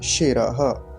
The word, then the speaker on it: शिर: यहां भी वही बात बीच में तालव्य सकार का ध्यान रखेंगे ऐसा यह वाला सिर नहीं बोलेंगे य सकार होता है ये यह वाला तालव्य सकार है तालू से उच्चारण होगा तो क्या बोलेंगे शेर ऐसा ओम शेर अगला मंत्र